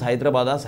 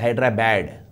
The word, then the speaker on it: Hyderabad: how do you pronounce hyderabad a telanganite will pronounce hyderabad's hyderabad because it is hyderabad but in andhra they call it as hydra bad hydra bad what is this it is not